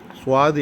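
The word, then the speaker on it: ص: சுவாது என்பதிலே தமிழிலே சொல்லப்போனால் சுவா இத் சுவாது என்று நாம் சற்று ஏறக்குறைய உச்சரிக்கலாம்.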